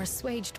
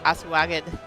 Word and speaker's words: assuaged: Even if a few are assuaged by your words, it will make things easier. I know it's pronounced this, but every time I see that word, I want to say asaged.